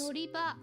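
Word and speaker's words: のりば: It sounds It sounds like I'm saying uh bus river, but it's not. It's I think it just means bus stop, but the pronunciation is noriba.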